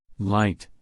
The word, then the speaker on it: light: c k did you Circle K number seven light light l i g h t did you